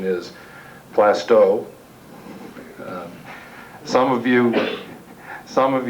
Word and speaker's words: Plaistow: learned in attending these meetings that the correct pronunciation is plasto some of you some of you may or